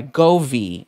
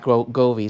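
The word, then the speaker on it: Govee: are being sponsored by govi and that's exactly how it's pronounced because i actually spoke to the rep i know there's been a lot of different questions as to how it's pronounced and this is right govi so i'm super excited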